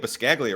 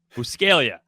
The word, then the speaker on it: Buscaglia: a stupid Italian spelling there's a silent G in there like I I get embarrassed about like oh so you say it piscaglia right no actually I